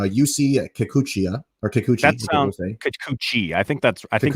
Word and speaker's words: Kikuchi: that all over social media um i'm gonna butcher the heck out of this but uh you see uh kikuchiya or kikuchi i think that's i think you got it